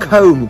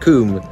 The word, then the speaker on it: Combe: wow people would have had beautiful no not comb comb it's pronounced coomb please um well i'll put us all out